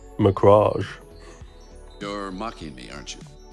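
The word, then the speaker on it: Macragge: the ultramarines warriors of macra ghee i'm sorry i said it wrong again i meant mirage you're mocking me aren't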